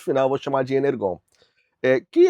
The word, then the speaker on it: Energon: dizem, a pronúncia é Energon, mas para mim G tem som de G e ponto final eu vou chamar de Energon.